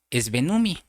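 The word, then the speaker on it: σβέννυμι: Cuando dice que el Espíritu Santo se apaga, usa una palabra que se pronuncia esvenumi.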